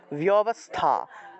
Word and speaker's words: ব্যবস্থা: ব্যবস্থা, বয়ের সাথে জফলা আছে, বয়ের সাথে জফলা থাকায় আমরা বিয় উচ্চারণ করব, বিয় বিয়, বিয়বস্থা, বিয়বস্থা, এইভাবে উচ্চারণটা করতে হবে। অর্থাৎ জফলা থাকায় ই এবং অ উচ্চারণ করতে হবে, ইয় উচ্চারণ করতে হবে জফলা থাকলে।